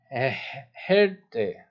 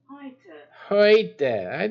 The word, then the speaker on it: Heute: Today is Herte. Heute. That's what I said.